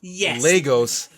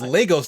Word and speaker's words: Lagos: I just want to point out, they kept mispronouncing the city of Lagos as Lagos. Yeah. Like, I'm actually Nigerian. Like, I've been to that city. Like, it's Lagos, Nigeria, not Lagos.